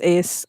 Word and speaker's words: Aos: Oh, Aois, AOS, and then that's Ace, means people, and then she, it's usually spelled SIDHE, but it's pronounced she.